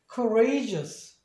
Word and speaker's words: courageous: 그러니까 courageous 이렇게 발음을 해주시면 돼요.